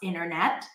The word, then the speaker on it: internet: The T after an N drops, internet.